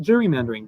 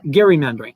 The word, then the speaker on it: gerrymandering: and yes i will correct you if you pronounce it gerrymandering because that's just not how it's pronounced and i'll and i will die on this hill but gary mandarin so on the topic of gerrymandering 2020s which